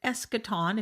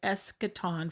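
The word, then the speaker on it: eschaton: the eschatological discourse and that's because the word escaton if you've never heard that word before is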